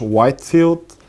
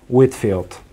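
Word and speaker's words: Whitefield: Много хора го наричат Джордж Уайтфилд. Правилното произношение е Джордж Уитфилд.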